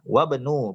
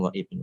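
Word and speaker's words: وابن: Wabnu, bacanya wabnu bukan wa ibnu.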